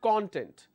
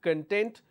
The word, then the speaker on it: content: But when I'm stressing and focusing on the second syllable, the pronunciation changes. I pronounce this as content. Now there is a difference in terms of content versus content.